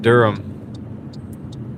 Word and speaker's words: Durham: Yeah, it's pronounced Durham. Durham. Going to Durham. Raleigh Durham. not dirham.